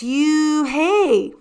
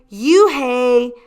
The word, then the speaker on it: Unhei: it's spelled u n h e i it's pronounced oh it's you hey the boy said like you hey what about hey you just then the bus